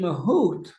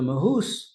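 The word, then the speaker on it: מהות: So we want to understand what is the mahoot or in ashkan pronunciation the mahus of the bayani.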